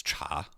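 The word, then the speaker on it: 茶: Um, the the standard modern Chinese is cha. However, down south in certain parts, it's pronounced something more like T.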